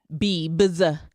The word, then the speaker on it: Bieber: mispronouncing it you will stop you will stop mispronouncing his name Bieber Bieber oh my God shout out to him